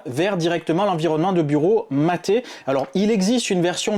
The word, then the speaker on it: MATE: même vous toucher deux mots à propos de maté pour ceux qui connaissent pas un petit peu